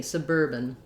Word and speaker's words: suburban: So, excuse me, suburban. Then, just like the end of urban, my BAN just has a schwa, or almost no vowel.